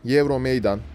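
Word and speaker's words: Euromeydan: neresindeydi tarihe eurom Meydan Euro Meydan eurom maydan Aslında en doğru telaffuz edilişi de Euro Meydan olarak telaffuz edeceğim ben videonun devamında tarihe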